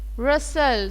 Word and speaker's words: rustle: Splash, clink, rustle. So the T is silent here.